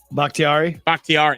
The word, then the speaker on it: Bakhtiari: David I can never say his name. Bakhtiari. Bakhtiari. That's it.